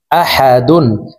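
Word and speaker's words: أحد: হাল দুই পেশ দুন আহাদুন দালকে ওফের ক্ষেত্রে সাকিন করে ফেলব দাল যেহেতু কলকলার হরফ নিচের দিকে ধাবিত করে ধাক্কা দিয়ে উচ্চারণ করব আহাদ কহু আল্লাহু আহাদ কুলহুয়ল্লাহু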